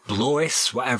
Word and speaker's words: Blois: He came from Etienne Henry II, Count of Blois, or Blois, how it's pronounced.